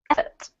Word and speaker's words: effort: And this one, effort. Effort. Good. Emphasis on the first syllable in an effort to protect.